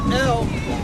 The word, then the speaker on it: El: Many Near Eastern cultures worship the al, most commonly pronounced as El, and depicted as a bull in carvings and statues.